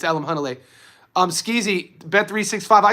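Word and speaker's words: Alimkhanuly: It's funny to hear people mispronounce his name. They Alam Kunnel. It's Alam Hunnle.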